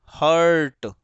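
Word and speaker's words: hurt: देखो मैंने जितने भी बोले हैं अभी प्रोनाउंस किए हैं, तुम्हें उसमें कहीं भी र नहीं सुनाई दिया होगा, ना मानो तो थोड़ा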